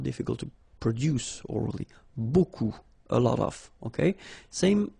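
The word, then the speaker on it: beaucoup: strange B like that remember you don't pronounce the final P okay and then you've get this combination of vowels a u and you get the sound o so technically it's B okay so it's not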